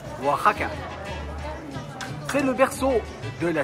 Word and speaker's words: Oaxaca: centre de la ville de oaksaka mais ceci se prononce Waka c'est le berceau de